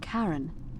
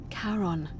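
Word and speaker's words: Charon: a little off the name you heard wasn't karen it was c-h-a-r-o-n as in caron the ferryman of the dead karon who in exchange for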